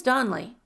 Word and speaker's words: Donley: My name is Donley, the other said. He pronounced it that way crisply, running the syllables together.